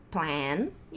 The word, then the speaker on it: plane: Daí a gente tem aqui, esse cara aqui vai ser plan, vai ser com a borboleta. Plan, plan, plan. E esse cara aqui, plane.